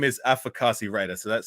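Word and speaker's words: Afakasi: as well what's your name my name is afrikasi Raider so that's spelled a-f-a-k-a-s-i so what that actually means is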